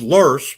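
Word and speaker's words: loess: that are wind-blown sediments pronounced lurs but spelled l-o-e-s-s but let's keep going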